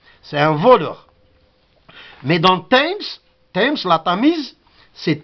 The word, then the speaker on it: Thames: Mais dans Thames, la Tamise, c'est T. TH, c'est T. Dans Thames seulement, je crois. This is my thumb.